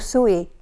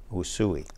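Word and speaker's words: Usui: healing technique what suya Reiki how do you pronounce it well sooie sooie sooie Reiki okay and tell me a little bit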